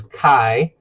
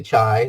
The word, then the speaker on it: chi: says X squ remember Greek letter X is Kai Kai rhymes with guy don't say chai that's a t Kai